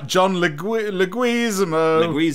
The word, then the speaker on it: John Leguizamo: The other thing that we all told you to hate us for in the comments was the pronunciation of Leguizamo. Oh, John Leguizamo.